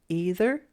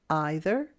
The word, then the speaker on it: either: always check the dictionary in this reading I pronounce these words this way either and neither you can also say either and neither you can